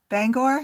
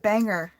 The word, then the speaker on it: Bangor: yours Gloria in Bangor so Out of Towners call it banger Bangor Maine and I'm